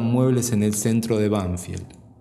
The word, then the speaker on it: Banfield: en el centro de banfield mi papá pronunciaba manfield lo decía con la m Yo entendía sus palabras